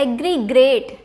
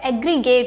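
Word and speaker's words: aggregate: क्या लिखा हुआ है एग्रीग्रेट ठीक है बट इसका जो करेक्ट प्रनंसीएशन है वो क्या हो जाएगा एग्रीगेट होता है यानी की आपको आर उसे नहीं करना है वहां पर आर आएगा ही नहीं वहां पे उसका क्या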